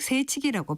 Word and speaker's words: 새치기: 새치기에서 새는 사이의 준말로 새라고 길게 발음해서 결국 새치기라고 발음합니다.